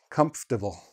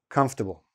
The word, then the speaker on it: comfortable: Some people make the F sound like a P, comfortable. It works for some, it doesn't work for anyone, for everybody. Whatever way you say it, it is not comfortable. That's not the correct way, comfortable, okay?